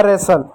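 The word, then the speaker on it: wrestle: उसी प्रकार एक और शब्द है डब्ल्यू आर ई एस टी एल ई। डब्ल्यू का यहां पर क्या साइलेंट होगा। आर का क्या? र होगा। ई का एक ही मात्रा हो गया। ठीक? अब यहां पर देखिएगा एस का क्या? स होगा। टी भी यहां पर साइलेंट होगा। एल का ल होगा। ठीक? हो गया रेसल। ई भी यहां पर साइलेंट होगा।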